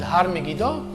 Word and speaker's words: Har Megiddo: It goes by a hill, which in Hebrew is called Har Megiddo, and mispronounced in the Bible it became Armageddon. So this crossing of Armageddon